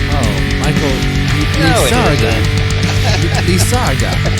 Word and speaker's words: Lizarraga: The old TV show feed, no, it's actually pronounced Lizarraga. Oh, Michael Lizarraga. Lizarraga.